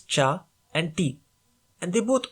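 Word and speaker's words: 茶: variation of cha like chai in hindi zai in russian or kai in turkish both versions come from the same chinese character in mandarin and cantonese it is pronounced as cha so if a language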